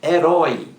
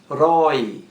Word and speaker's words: herói: e na letra b herói é herói o acento continua porque a sílaba mais forte aí a última roi é herói oxítona então